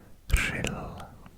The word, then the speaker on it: Rhyl: RH in Welsh is pronounced r. So this place is called Rhyl.